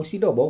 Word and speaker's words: Xdobo: Oke, Teman-teman ya, di hadapan kita kali ini sudah ada speaker lagi, salah satu line up terbaru dari Xdobo atau Sidobo kalau di bacanya ya.